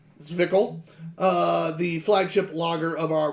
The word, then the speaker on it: Zwickel: It is pronounced Zwickel, the flagship lager of our Reverence series, classically crafted, timeless, blah, blah, blah.